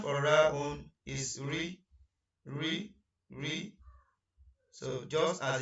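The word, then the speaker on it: راء: And the next one is ra'un. Ra'un. The short form of pronunciation of it is ra.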